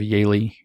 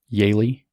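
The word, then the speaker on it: Yaeli: happens you can look up the story of yaylee goldemes if you want that's one example i bring up a lot it's a tragic story immigrant mother comes up from her from peru her daughter yaylee has y-a-e-l-i if you want to look her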